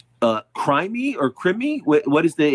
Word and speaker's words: Crimi: And is the correct pronunciation of the last name uh crime or crim? What is the exact pronunciation of that? It's creamy. Like the text.